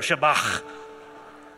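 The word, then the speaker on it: Shabach: Now, you got to say it like you got a little popcorn stuck in the back of your throat. Shabbat.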